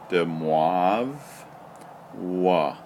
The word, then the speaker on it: de Moivre: to be real mathematical the way you pronounced this guy's name is dimov wah ok I don't know if it's I guess it is French de moivre's anyway let's